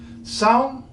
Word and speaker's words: São: sound like a person who knows it for some particular purpose okay I'm going to tell you because that's that thing I do number one the biggest city in Brazil is salt borrow some borrowed some has this nasalization on it you might know